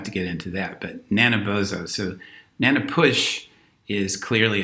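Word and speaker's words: Nanabozho: the Ghibli trickster figures called naina bozo or wina bozo and it depends on who's speaking as to how you pronounce it we don't have to get into that but Nana bozo so Nana push is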